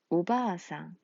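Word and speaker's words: おばあさん: 오바상, 오바아상. 자, 바 다음에 아가 한 번 더 나왔어요. 이렇게 같은 모음이 연속될 때 장음이라는 법칙이 생겨났어요.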